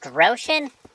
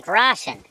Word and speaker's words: Groschen: Wait, it's pronounced groschen? I've been playing this game for 200 hours. I've been saying groschen.